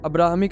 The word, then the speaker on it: Abraham: Judaism, Christianity और इस्लाम, ये तीनों रिलीजन्स अब्राहमिक रिलीजन्स कहलाते हैं। ज्यूस और क्रिश्चियंस की प्रोनाउंसिएशन में अब्राहम और इस्लामिक प्रोनाउंसिएशन में इब्राहिम।